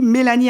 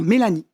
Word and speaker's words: Mélanie: Et puis il y a aussi Mélanie Adel. Comment ça va? Je vais bien. Voilà, ça s'écrit Adol, mais ça se prononce Adel.